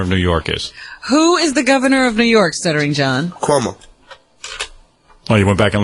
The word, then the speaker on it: Cuomo: Kumu.